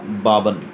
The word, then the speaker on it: Balban: इसको प्रोनाउंस करेंगे हम बालबन, लेकिन प्रोनाउंसिएशन बाबन ही रहेगा, लेकिन ये बालबन लिखा जाता है।